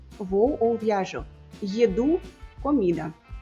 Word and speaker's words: еду: Às vezes, como no caso de maçã e massa, a sílaba tônica errada em russo sugere que é outra coisa. Еду, vou ou viajo. Еду, comida.